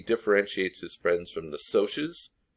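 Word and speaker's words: Socs: his friends from the sotius that's how you pronounce that word right there sotius provide a quote that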